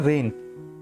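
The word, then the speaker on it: reign: रेन, इसको जी को मत पढ़ना, इसको हम बोलते हैं रेन। ठीक है, ये नाउन प्लस वर्ब दोनों की तरह आप बोल सकते हैं, और जो इसकी प्रोनाउंसिएशन वही इसकी प्रोनाउंसिएशन है रेन। ठीक है, बहुत सारे लोग इसमें जी का साउंड करते हैं पर नहीं बोलना।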